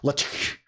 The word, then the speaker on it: LaTeX: I think you pronounce this the k in LaTeX, not like a K, but like a hiss. It's LaTeX.